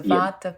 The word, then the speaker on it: Vata: I remember the first time I came across Ayurvedic medicine, I read about the Ayurvedic doshas, I think you pronounce it, the Vata, Pitta, and Kapha, if I pronounced them correctly.